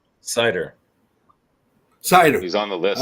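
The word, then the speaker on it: Seider: How do you pronounce his name? Snyder. Well, he's Cider.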